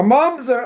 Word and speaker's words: mamzer: Now, somebody asks, a mamzer, again, not a mom, there, let me spell it here. Not a monster, a mamzer, right? M-A-M-Z-E-R. That's how you pronounce it.